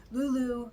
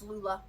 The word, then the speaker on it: Lula: as the necessary Mischief Lulu had had to do something impressive to show Krampus she was capable of more than playing Disobedience I think I just pronounced her name wrong it's Lula Lula and Krampus each walked